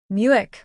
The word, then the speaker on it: Muick: Muick, pronounced Mick, was a gift from